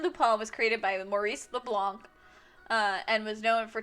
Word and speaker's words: Leblanc: thief created by maurice leblanc leblanc you english voice actors is not la plan it's not leblan um which is the